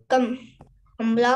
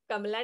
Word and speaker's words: कमल: किस का था, गुलाब का, कमला का, आम का, गुलाब का। कमला नहीं, कमल है वो, कमल लिखा है बेटा।